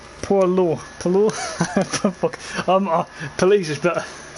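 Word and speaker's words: poilu: It's pronounced Polo.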